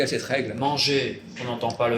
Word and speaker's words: manger: Pourquoi est-ce qu'on dit manger alors qu'il y a un R après manger dans l'infinitif? Pourquoi? Oui. Pourquoi je dis manger, je ne prononce pas le R?